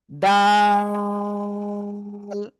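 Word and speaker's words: د: সে অক্ষরটা হলো জিহ্বার আগা উপরে দুই দাঁতের গোড়ায় লাগবে, লাগিয়ে আমরা উচ্চারণ করব দাল, ঠিক আছে?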